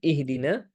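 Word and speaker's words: اهدنا: Maka lagi-lagi kita peringatkan ihdina di sini menggunakan H besar. Menggunakan H besar bukan menggunakan hak kecil. Maka hati-hati tertukar ya. Ihdina. Ihdina. Begitu juga dengan na. Pengucapan huruf na di sini adalah dengan fathah. Maka fathahnya kita harus jelaskan. Jangan sampai ke ee ke e lagi. Ihdina ya.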